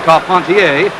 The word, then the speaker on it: Carpentier: Jack Dempsey advancing on George Carpentier, or Carpentier if you prefer the French pronunciation.